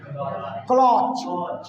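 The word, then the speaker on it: clutch: चलिए इसको क्या पढ़ोगे, पढ़ो इसका प्रोनाउंसिएशन क्या करोगे, इसको क्लॉच, क्लॉ अच्छो, क्लॉ अच्छो, टी साइलेंट है यहाँ पर, क्लॉच, ठीक है ना,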